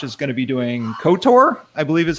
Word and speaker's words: Ktor: We'll be going through Quarkus with Apache Camel first, and then Josh is going to be doing Ktor, I believe is how it's pronounced, on Kotlin.